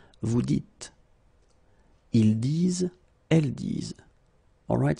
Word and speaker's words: vous dites: So it's not vous disiez, okay, as many would think, but then it's vous dites, okay, final S not pronounced, vous dites.